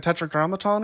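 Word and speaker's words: Tetragrammaton: Okay, so you do say and um what is it called when you spell it that way? It's like the tetra grammaton or something.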